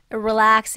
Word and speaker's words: relax: 여기 relax 이 R 발음을 정확하게 해주셔야지만 relax로 소리가 들려요.